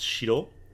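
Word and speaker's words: 城: Normally it's pronounced Shiro, castle, but if it's at the end of like a particular castle, like Himeji-jo is Himeji Castle, this is Hyrule Castle.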